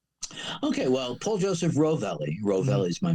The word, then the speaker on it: Rovelli: Rovelli is my name. And we actually pronounce the LVX as light, the Gnostic Church of Light.